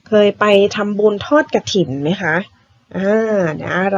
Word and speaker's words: กฐิน: แรก คือ คำ ว่า กฐิน ณ อ่าน ว่า กฐิน แบบ นี้ นะ เวลา เขียน ทำ อ่าน กฐิน